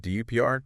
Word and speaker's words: DUPR: And DUPR dynamic universal pickle ball rating. I mean it's basically become the global standard. It rhymes with super which is kind of catchy, right?